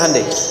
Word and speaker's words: Hyundai: sana bikin Honda sini Handai hyundaikan dibacanya Handai gitu Ini apapun yang